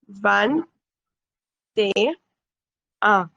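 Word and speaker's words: vingt et un: Now, how will you pronounce both of you? 21. Actually, even though we write it like this, van te a.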